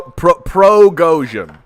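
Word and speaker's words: Prigozhin: John this pro pro Goshen Pro Goshen but it's spelled pregozian God damn friggin geez the freaking God freaking fracking why why has it got to be like this they spell it pre-gosian and then it's self-progosian come come on come on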